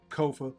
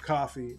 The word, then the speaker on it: Kofa: Once again, it's your favorite YouTuber, Kofa, Kofa, not coffee, not, not Kofi, or any variation thereof. Kofa rhymes with sofa.